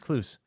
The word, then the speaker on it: Klouse: I've been pronouncing him Kluss for years. No, he's clues.